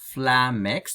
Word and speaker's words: flummoxed: By the way, there is a mistake here because it says regarding the word flummoxed, читается как flummoxed с ударением на «ме», with the emphasis on «ме», but it should have been the emphasis on flummoxed, yeah.